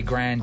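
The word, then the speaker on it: Grinde: tell us tell us she said you say Grandy Grandy Grandy she said it Grandy Grandy yep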